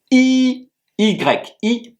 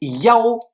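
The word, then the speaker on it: 一: est un trait et qui se prononce i y i premier ton. Ce caractère s'écrit de la manière suivante. Donc ce caractère, il peut aussi se prononcer Yao lorsqu'il est utilisé par exemple pour un numéro de chambre, un numéro de téléphone, de dossier et cetera. Et donc on va dire par exemple le 11 yao.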